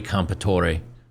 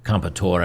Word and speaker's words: Comperatore: Today I want to talk about Cory Comperatore, or Comperatore, I guess he doesn't pronounce the E on the end.